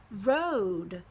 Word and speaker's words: rode: I'm adding another vowel the first file will will be long it'll say oh the e is silent Oh Road I rode on the